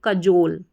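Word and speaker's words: cajole: तो यह बन गया सी ए क जे ओ जो क जो और एल इ को मैंने बताया ल पढ़ा जाता है। लास्ट में जब भी आता है तो कजोल।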